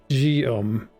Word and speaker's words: Guillaume: Guillaume. Okay. Sounds like there should be a G, an O, and an M in that name, but yeah, sure, spelled like this, whatever, man. Guillaume.